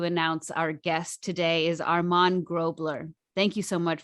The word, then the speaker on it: Armand: anyone wants to know go ahead yes it's pronounced armand all right so i'm still practicing that's why